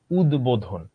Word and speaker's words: উদ্বোধন: উত যোগ বোধন, এটার উচ্চারণ কি হলো? উদ্বোধন।